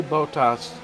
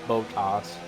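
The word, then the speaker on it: Bottas: and ruin the party I always say bow tossed like that intended bata ball toss pot toss well when I say it like that it sounds a lot more like buttocks then it does his name so that's why I say of botas like bo bo w I noticed I was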